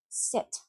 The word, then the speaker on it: sit: Sit, sit.